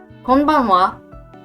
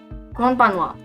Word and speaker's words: konbanwa: So konbanwa is good evening. And like konnichiwa, it has this ha at the end, but it's particle, so it's pronounced as wa.